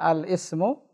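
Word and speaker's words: الاسم: Al-Ismu. Ini hamzah wasal di tengah. Bagaimana bacanya? Al-Ismu. Al-Ismu. La, jangan al.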